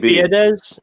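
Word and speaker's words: Biadasz: It's Biedez.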